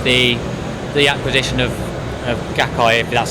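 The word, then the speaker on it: Gaikai: flying by with the the acquisition of of gaki that's how you pronounce it from Sony that there is a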